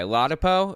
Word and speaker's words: Ladapo: Ladapo is how it's said.